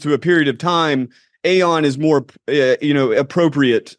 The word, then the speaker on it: aeon: title of my book dark Eon or Aon depending on how you want to pronounce it uh dark Eon is really a a a nod to gnosticism uh the gnostics that I know personally tend to say Aon in regard to the Divine beings and so maybe um